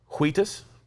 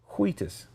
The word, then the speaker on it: Wheatus: Wheatus? What's wrong with the way I say Wheatus? Why are you putting so much emphasis on the H? Wheatus. You sound like Stewie from Family Guy. Cool Whip. Wheatus.